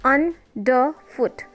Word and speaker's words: underfoot: It will be like underfoot. Two unstressed followed by one stressed.